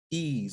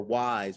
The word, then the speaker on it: Ys: Ease or Wise, whichever you want to pronounce it. It's Ease. It's called Ease.